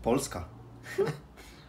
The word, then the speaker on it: Polska: Polska.